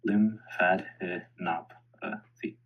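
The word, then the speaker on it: lymphadenopathy: The correct pronunciation is as follows. Lim fadopathy.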